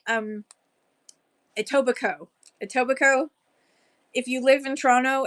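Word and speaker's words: Etobicoke: your mother-in-law lives in toac Coke my mother um when she got married she was living in a tobaco um we don't say the coke part A tobico it's more like a tobico um she lived at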